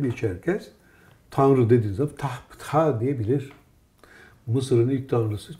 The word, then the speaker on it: Ptah: Bak, onu Ptah diye okunur. Biz beceremiyoruz onu. Çünkü biz Türkçe'de heceli seslendirme yaptığımız için Pitah diyoruz. Halbuki Ptah.